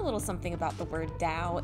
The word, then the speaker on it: Dao: I learned a little something about the word Dao. It's technically not pronounced with a D. It's pronounced with a sound that's not really native to the English language, that's somewhere between a T and a D.